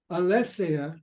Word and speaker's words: aletheia: It sounds very parallel to Heidegger's covering and uncovering, aletheia and theia. Yeah, I thought you meant aletheia and... Aletheia, that's the pronunciation.